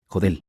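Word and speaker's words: HODL: H.O. D. L. Pronunciado, Jodel.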